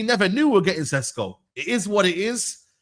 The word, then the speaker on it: Sesko: Benjamin Sesko. That's how they pronounce the name. You know the ones there. I know people are online trying to get me done on that with a Benjamin Tesco and that, but that's